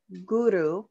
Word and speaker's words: Guru: mudra is W hey Guru it's gu Ru with little roll in R wah hey Guru three times so these